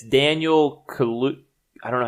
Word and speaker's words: Kaluuya: kind of the TV show, and it's Daniel Kaluuya. I don't know how to say his last name. Kaluuya.